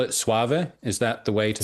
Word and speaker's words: Soave: I first listened to the record now again pronunciation should I call it suave is that the way to say it.